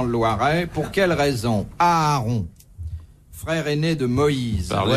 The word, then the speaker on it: Aaron: Il n'y a pas deux A ? Non. Au fait, il y en a, mais on n'en prononce qu'un.